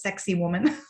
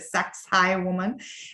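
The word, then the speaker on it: Sacsayhuamán: it is this is sucks High woman that you're seeing here otherwise pronounced as sexy woman people say that but sex high woman and if you see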